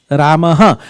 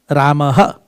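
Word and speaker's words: Ramaḥ: The pronunciation of visarga is H. Ramaha gacchati. Ramaha. R-A-M-A-H. Ramaha.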